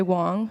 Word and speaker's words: Wang: about myself I'm Andrea Wang uh well I'm Chinese so some people say Wong right and I've had